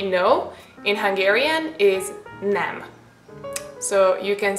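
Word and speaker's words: nem: want to say no in Hungarian is is nam so you can say Egan and Nam now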